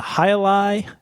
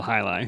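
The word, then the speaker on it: Jai Alai: Spell it for everybody because it does not look like it's spelled Highlight. Yeah, it's not, unless you're from Florida and know this beer already, it's not spelled at all like you think. This is J-A-I, second word A-L-A-I.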